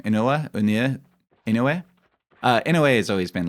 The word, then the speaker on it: Inoue: I always forget how to pronounce his name. Inoue.